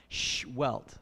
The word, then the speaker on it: Sehuelt: pronounce his name is you put your finger in front of your lips like shh, and then like you hit yourself and get a welt. Sehuelt. So Dr. Sehuelt. Dr. Sehuelt is currently an associate